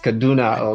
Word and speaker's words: Kaduna: And did I pronounce it? It's Kaduna, right? Yes, Kaduna.